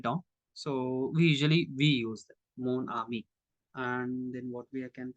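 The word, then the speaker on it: mon ami: We must use the masculine form of adjectives because we have to make the pronunciation smooth. We, for example, ma, ami.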